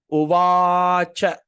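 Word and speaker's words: उवाच: So dharma, this is dartarastra, uvacha. Okay, see va a at the dot. So how are you going to pronounce this? Uvacha, a small sound a.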